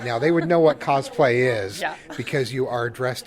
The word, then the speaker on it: cosplay: So, and I can hear that I've already mispronounced it as cosplay instead of cosplay. Yeah, so it's which is a common mistake, I'm guessing.